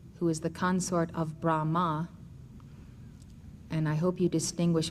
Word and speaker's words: Brahma: of that name and if you think of the Sanskrit not having A's pronounced you would pronounce it brah Saras vakti the consort